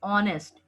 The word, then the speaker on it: honest: But you can see that H is silent here and it gives the sound of a vowel, that is honest, O.